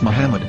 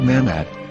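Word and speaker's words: מחמד: vowels it can be read as muhammad which is the name of the muslim prophet or as mahmad with no a after the h according to ben yehuda's hebrew english dictionary it is correctly pronounced as muhammad not mehmed so how we're going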